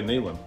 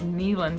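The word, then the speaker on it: Neyland: Dayland Stadium I say nalen a lot of people say Neelam yeah I read an article that the correct pronunciation is Kneeland Stadium but I say Mainland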